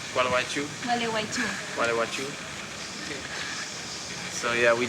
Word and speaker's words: Gualeguaychú: Gualeguaychú. Gualeguaychú.